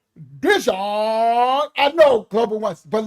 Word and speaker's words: Dijon: We call him Dion, right? In the hood. I had never heard his name pronounced Dijon. Now remember, we in Canada, that's French.